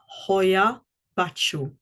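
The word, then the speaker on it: Hoia Baciu: the Hoya bachu bachu uh is it's spelled h o i a and then a new word b a c i u Hoya bachu forest in Romania again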